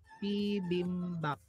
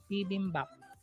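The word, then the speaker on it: 비빔밥: So ang ating first syllable is P, second syllable is BIM, third syllable is BAP, P, BIM, BAP. Pibimbap.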